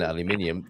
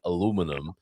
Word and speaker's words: aluminium: The spelling is supposed to be the same as other elements like sodium, magnesium, calcium, titanium, and hence aluminium. Although I do like it when I hear Americans saying aluminum.